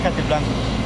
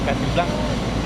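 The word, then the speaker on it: Castilblanco: Catiblanco. How do you spell it in Spanish? A-L-B-N-I-S, C-A-S-T-I-L-B-L-A-N-C-O, Catiblanco.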